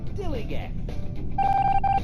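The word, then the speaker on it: DILLIGAF: And I can relate to their attitude too, in a word, dilly-gaff. That's spelled D-I-L-L-I-G-A-F, dilly-gaff, and this is what it means.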